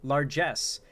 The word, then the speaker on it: largesse: dependent on such federal largesse. I've never heard that term before. Largesse. Interesting. Hold on. Let me look this term up. I've never heard it before. Largesse. I pronounced it right.